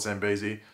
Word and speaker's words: Zambezi: But essentially Mari got injured because Amaya being displaced from Zambezi, or Zambezi, however you want to pronounce it. I call it Zambezi.